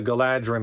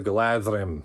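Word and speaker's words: Galadhrim: I'm reminded now that the bow of the galadrim is really supposed to be pronounced bow of the gladrim because in Tolken dh is supposed to be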